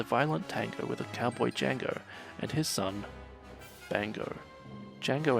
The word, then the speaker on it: Django: a space cowboy named Django. The D is silent.